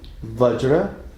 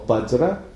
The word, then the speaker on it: Vajra: Yeah, so the full mantra is Om Ahum Vajra or Bajra Guru Pema Siddhi Hum. Om Ahum Vajra Guru Pema Siddhi Hum. Sometimes pronounced as Benza Guru Pema Siddhi Hum.